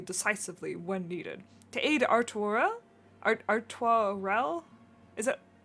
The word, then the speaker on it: Artoirel: To aid Artoirel? Is it? How do you say that? Yeah, it'd be like Artois, and then like an L, so like Artois.